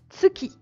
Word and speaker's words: 月: Donc la lune se prononce Tsuki.